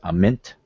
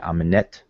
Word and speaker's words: Amenet: Some people say Ament, or some people say Amenet. No matter how you pronounce it, we're still talking about the west.